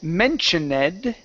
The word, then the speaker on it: mentioned: Instead of mentioned, okay, this ed ending will be pronounced like a D.